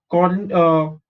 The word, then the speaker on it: Corynebacterium: you can also use Corynebacterium. Okay, how do you pronounce this? C-O-R is cor, Y is E, N-O is no, bacterium, Corynebacterium.